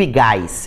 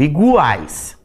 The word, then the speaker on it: iguais: E ele vai ser pronunciado, porque eu não digo igais, eu digo iguais, tá?